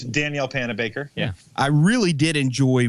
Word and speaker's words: Panabaker: It's Danielle Panabaker.